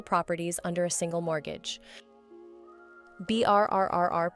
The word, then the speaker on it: BRRRR: BRRRR, pronounced BRR, stands for buy, renovate, rent, refinance, repeat.